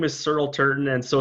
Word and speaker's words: Searle Turton: so my name is searle turton and so it's kind of like earl with an s so it's a bit